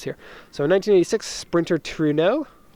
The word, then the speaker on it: Trueno: so many comments here so in 1986 sprinter Trueno toll rain oh if you were wondering about the pronunciation okay 1,600 cc engine the seller doesn't